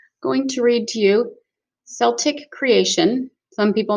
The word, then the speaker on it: Celtic: Hello, going to read to you Celtic creation. Some people may pronounce it Celtic creation. When I was in Ireland, they pronounced it Celtic creation, so I'll call it Celtic creation.